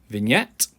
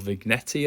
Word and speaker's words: vignette: when you need it vignette or vignetti as you uh you may pronounce it if you pronounce it wrong so vignette is a